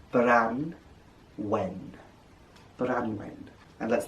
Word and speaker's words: Branwen: gay duran bendigate flan and his marvellous sister branwen bran wen branwen and let's not forget their father here